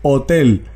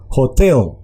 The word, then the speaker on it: hotel: en español que es hotel, sino que la H tiene un sonido de J y se hace énfasis o entonación en la segunda sílaba. Entonces, hotel.